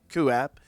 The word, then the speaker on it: QooApp: It's spelled QOOAPP, QApp.